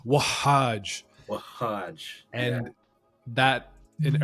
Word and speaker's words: Wahaj: It's Wahaj. So that's how you pronounce it, Wahaj. Wahaj. And there's like an emphasis on the ha, Wahaj.